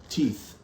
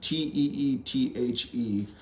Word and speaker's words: Teethe: They're called Teeth. Let me take this out of the protective sleeve here. Teeth. Spelled like this, but with an E at the end. Teethe.